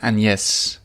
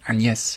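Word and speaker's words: Agnès: talking about me and an yes which I had to learn how to pronounce in a French accent an yes it's kind of like and yes without the D and yes uh so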